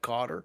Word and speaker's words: Kotter: So, you know, I read a book some time ago by John Kotter, like from Welcome not not from Welcome Back, Kotter, but pronounced like Kotter.